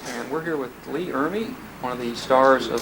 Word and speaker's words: Ermey: press luncheon for Lee iry it looks like it's spelled Emory but it's iry he's a fellow from